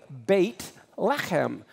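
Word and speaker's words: בית לחם: how many vertebra hem Bethlehem is really bait let him bait is house let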